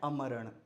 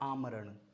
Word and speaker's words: आमरण: अगला है अमरण। अमरण नहीं क्या होता है? क्या होता है? आमरण।